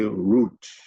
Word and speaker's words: route: That word root, R-O-U-T-E, the American will pronounce it route, but the British will say root.